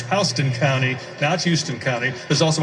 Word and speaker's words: Houston County: one of them is in republican county i mispronounced it earlier for the record i want to say correctly it's houston county that's houston county there's also a houston street